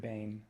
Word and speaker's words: Behn: I pronounce it wrong. It's spelled Behn, but I say it Behn, like pain.